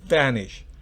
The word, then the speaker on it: vanish: En la segunda, recuerde, se pronuncia con un labio, con el labio inferior y los dientes, vanish. Los dientes superiores, por supuesto.